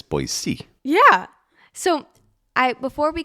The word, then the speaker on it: Boise: before we got to boisey I oh yeah boisey I said it right Dad nice job you're like a local now yeah it's not boy Z it's boy c yeah so I before